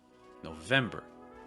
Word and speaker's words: November: November again is going to have that O sound. No, no, but it's reduced. It's not as strong as that O we saw in October. Again, hear that October, October versus November, November. It's a much faster no sound.